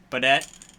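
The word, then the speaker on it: Beaudet: Baudette. But it? It's like Baudet, but you say the T instead.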